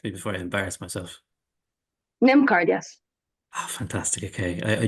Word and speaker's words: NymCard: NymCard, is that correct pronunciation, Tina? You correct me before I embarrass myself. NymCard, yes.